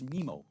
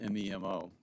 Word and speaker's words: Memo: and our brother Buck, our pet name for our mother when we were little was Mimo, which we always spelled M-E-M-O, which Siri always pronounces as Memo, which is funny.